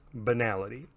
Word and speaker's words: banality: Generally speaking, the stat called banality is always pronounced banality.